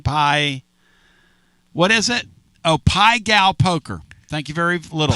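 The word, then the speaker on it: Pai Gow: Oh, Pai Gal Poker. Thank you very little. Pai Gal. It's spelled P-A-I-G-O-W Poker.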